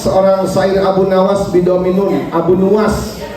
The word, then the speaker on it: Abu Nuwas: Qala sudah berkata asyairu seorang syair Abu Nawas, seorang syair Abu Nawas bidominun, Abu Nuwas berarti bacanya Abu Nuwas, bidomin nuni nuwasun, wabil wawi dengan huruf waw nuwas.